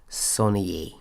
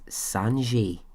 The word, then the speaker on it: Sonnier: Joseph Sonnier. Now, I'm going to say it's Sonnier, so it's spelled Sonnier. In some shows that I listen to and in some interviews, people would say it as Sanjay.